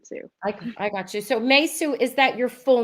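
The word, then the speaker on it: Meisou: my character's name is meisu so it's spelled m-e-i but pronounced like may the month and sue is spelled s-o-u yes and it's like suing someone too i got you so mesu is that your full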